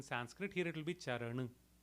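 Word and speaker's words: चरन: it as ER but in North Indian languages we would pronounce it as uh we don't go ah fully with the mouth open we keep the mouth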